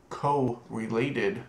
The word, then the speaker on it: correlated: and the execute once correlated subqueries or depending on how you pronounce it co-related subqueries um make use of